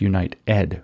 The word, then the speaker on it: UNITEd: So it's United is how you spell it, but it's Unite Ed, like education. So it's to move that into education.